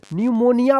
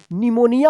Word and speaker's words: pneumonia: इसको न्यूमोनिया पढ़ेंगे, न्यूमोनिया। अब बोलते हैं ना निमोनिया हो गया है, तो निमोनिया नहीं न्यूमोनिया होता है इंग्लिश में ये सब।